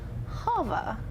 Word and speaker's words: Hava: now we have Brielle Yingling, who is playing Hava.